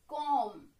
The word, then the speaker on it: comb: When we find two letters like M and B together, then always B is silent. So it is calm.